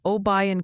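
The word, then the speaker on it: Obion: Multiple viewers are suggesting it's Mina, Arkansas, New Madrid, Missouri, and Oayan County. TN.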